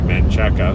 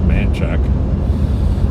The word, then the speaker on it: Manchaca: called manchac and it's it's spelled Manchaca and you can tell people aren't local because they'll say mancheka it's mancheck and um I moved